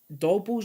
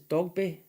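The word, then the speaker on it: Dogboe: Well, I don't think I'm saying his name right. Is it? It's Dogby. Dogby. Yeah, it's Dogby, isn't it? Yeah, it's Dogby is actually how you pronounce it.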